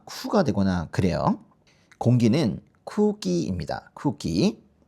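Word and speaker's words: 空気: 여기 보시면은이 끝에 나오는 이응은 발음이 되는게 아니라 이거는 장음이 돼요. 보통 이제 우가 되거든요. 그리고이 앞에가이 앞에가 이게 뭐 코가 되거나 쿠가 되거나 그래요. 공기는 쿠끼입니다. 쿠끼.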